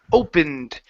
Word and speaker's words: opened: the ED ending here instead of open-ended okay it's opened opened it opened it open